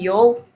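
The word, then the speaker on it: you: bilang y gitu ya Y ou-nya bukan Yu bacanya Ya tapi yo yo gitu ya nah jadi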